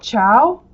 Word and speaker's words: ciao: But ciao, with an obvious CH sound, ciao, is spelled C-I-A-O.